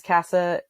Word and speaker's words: Cassa: well my name is cassa and so it's it's a weird name it's after a road in Wyoming so it's spelled c AA it's like House in Spanish with two s's so they can find